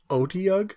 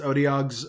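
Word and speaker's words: Otyugh: Otiug? Like, I guess. That's how I've always pronounced it. I guess. For some reason, I always thought that the UGH at the end would have like an F sound, and I don't know why I thought that.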